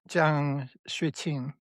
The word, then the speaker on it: Jiang Xueqin: to talk about Professor Jiang Xueqin. Is that how you pronounce his name? I believe. Yeah, Xueqin would be. I'm not sure about the tones, but it would be Jiang Xueqin.